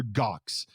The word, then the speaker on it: Gox: s p 500 meet mr gox and i've got to say it that rhymes with cox i'm like a 10